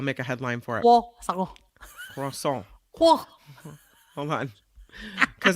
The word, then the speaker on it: croissant: Croissant. They'd be like, you know what? Get back in line. Come back when you can say it right. Croissant. It's the R and the W together that gets croissant.